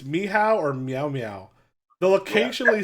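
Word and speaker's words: Michał: actually says Michael and the pronunciation is on there then it says me how or meow-meow me how is how you say is how you say my spelling and polish which won me points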